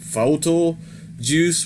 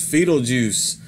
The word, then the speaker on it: Fetal Juice: gore house productions and i was pronouncing it photo juice but i found out that uh it is pronounced fetal juice so there we go